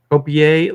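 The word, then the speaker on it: Coipel: That Olivier Copel or whatever it is. Oh, Copier. Copier.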